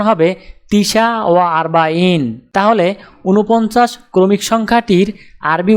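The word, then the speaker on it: تسعة وأربعون: উচ্চারণ হবে তিসা ওয়া আরবাইন।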